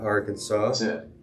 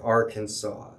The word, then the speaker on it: Arkansas: queen indian foreign and the way the french people pronounced it sounded like arkansas so as you can